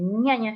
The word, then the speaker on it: Jnana: Pasa que se puede Ñaña. escribir de esta forma, o la G y la ñ, pero se pronuncia Sí. ñaña.